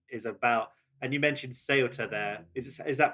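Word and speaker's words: Ceuta: denim kitchen is is about and you mentioned seota there is is that pronounced right yeah that's the Border yeah that's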